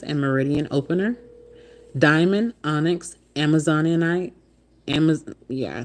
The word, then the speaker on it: Amazonite: Diamond, onyx, Amazonite, I said it right. Amazonite.